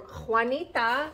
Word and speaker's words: Juanita: It says, a small gift for the kids from Juanita. Juanita again? Juanita Fielder this time. Juanita. We got a lot of Juanitas. We do. You could never have enough Juans. Juanita rhymes with bonita.